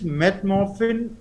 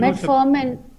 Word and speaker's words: metformin: Question, he wants to आस्क, his question is मेटमॉर्फिन N immuno suppressant? इस मेटफॉर्मिन, मेटमॉर्फिन नो, N immuno suppressant, मेटफॉर्मिन no, sorry it इज not immuno suppressant, मेटफॉर्मिन, Yeah, I'm pronouncing it wrong. Metformin is anti-diabetic.